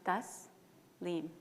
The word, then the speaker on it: Taslim: My name is Tasim pronounced thus leim. The T is soft.